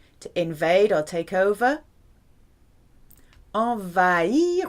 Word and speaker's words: envahir: Envahir with a silent H.